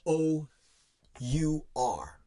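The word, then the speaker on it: hour: All I did was take an H off. It's the same pronunciation.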